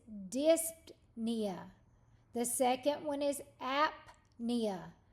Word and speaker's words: apnea: the second one is apnea so you're going going to say the p and the N both but separately so look over these